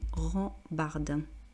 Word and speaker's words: rambarde: Donc, là, pour la prononciation, rambarde.